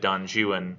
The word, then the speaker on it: Don Juan: Byron, when you get to Don Juan, by the way, I know it's spelled Don Juan, but he says it's supposed to be said Don Juan in the English fashion, and I think it's meant to make that more ridiculous.